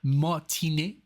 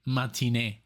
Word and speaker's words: Matinee: and it's literally um there were like three pronunciations one was Martin um and then mat like English you know and then matin that's what that's how I would say it I guess but hey you know